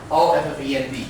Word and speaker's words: offend: So here number 4, where is stress? O-F-F-E-N-D. The first syllable or the second syllable? Second one.